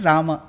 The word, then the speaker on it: राम: तो राम एक्चुअली संस्कृत में प्रोनाउंसिएशन राम, क्योंकि म का पूरा प्रोनाउंसिएशन, पूरा उच्चारण करना है।